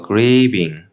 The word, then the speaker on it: grieving: So yeah, you have the tendency to pronounce these words with short I sound, like Sure, that's it. grieving, thief. Grieving. So don't say that. Make it Yeah. longer. Yes. Exaggerate the sounds.